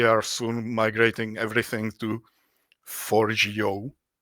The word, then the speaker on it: Forgejo: soon migrating everything to Forgejo. At least I am told that this is the correct pronunciation.